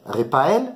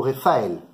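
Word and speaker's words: רפאל: On peut dire repael ou refael. Les deux, c'est juste. Le pei ou le fait.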